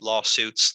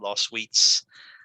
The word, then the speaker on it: lawsuits: with some words like i got mentioned lawsuits not law suites um that that was